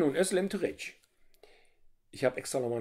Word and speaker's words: Özlem Türeci: wird das wohl ausgesprochen das geht bleibt stumm wenn es so einen kleinen bogen oben drauf hat dass es hat so einen kringel darunter dann ist es wie das z ist ein weiches eso das c wird wie die ausgesprochen nur ein öl ist auch im türkischen ein öl wie in österreich die geschichte von uhr